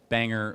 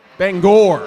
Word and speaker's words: Bangor: Calvary Chapel, Banger, Maine, Bangor, whatever.